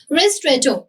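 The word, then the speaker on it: ristretto: रिस्ट्रेटो, हाउ डू we pronounce it?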